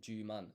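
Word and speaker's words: 十万: Um and so that's why in Japanese 100,000 is ju man and not hyaku sen.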